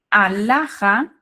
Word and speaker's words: alhaja: Então, alhaja é feminino, começa com A, porém, esse A não é tônico. A tonicidade está em HA, né? Está ali na segunda sílaba.